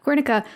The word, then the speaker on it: Guernica: what is it Picasso oh is it uh wernicka that the right one yeah this yay is that how you say it yeah Guernica yeah that's interesting that's that's one of the